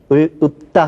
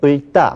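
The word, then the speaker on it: 읊다: 리을 피읍 역시 뒤에 것이 발음됩니다. 그래서 읍다 하면 을다 아니죠? 읍다죠.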